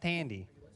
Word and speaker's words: Thandie: Well, when I was on the slopes, I met a fine person named Thandie Newton. Have you heard of him? I believe it's a woman. I believe it's pronounced Tandy.